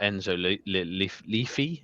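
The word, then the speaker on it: Enzo Le Fée: Um, with the kind of service he could get behind him, I mean, with Xhaka there, you've got that Enzo Leafy, I think is how you say it, who a few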